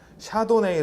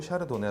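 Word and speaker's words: Chardonnay: 라고 하는 꿈 종이야 샤도네이 라고도 발음하고 샤르도네 라고도 발음하는 데 같은 품종 입니다 여러분 자에 도 굉장히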